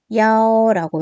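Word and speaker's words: 幺: 10이라고 해가지고 1을 갖다가 쓰지 않고 야오라고 이렇게 발음을 해줍니다.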